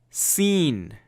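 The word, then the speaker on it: سين: letters now next one scene scene okay scene just our letter S and you pronounce it literally like we say scene scene you know I've seen it seen seen letter s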